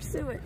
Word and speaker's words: suet: The suet wasn't getting a lot of attention, but... Oh, suet. I've been saying it wrong this whole time. Suet.